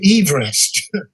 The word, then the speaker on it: Everest: Everest, the geographer, and he pronounced his name Everest.